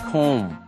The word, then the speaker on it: comb: 接下来我们来看 comb 梳子，这种梳子是扁平式的，然后一根一根一根这样，通常是男生用的哈。comb 要小心它的发音，中间是长母音 o，接下来的 comb 最后的那个 b 子音是不发音的。comb 动词名词都是这个字。You can use a comb to comb your hair，但是如果女生用的那个比较大的梳头发呢，那个叫做 hairbrush。Hairbrush.